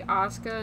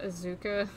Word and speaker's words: Asuka: Isn't her name supposed to be Asuka, not Azuka?